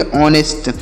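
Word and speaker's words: honest: क्या है ये देखिए ये जो यच यहां पर शुरू में लिखा गया है यह साइलेंट है मतलब यहां पर इसे हम नहीं पढ़ेंगे इसका उच्चारण यहां पर नहीं किया जाएगा तो यहां पर ओ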